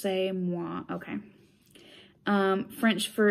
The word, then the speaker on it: c'est moi: And it says, et c'est moi, pronounced c'est moi.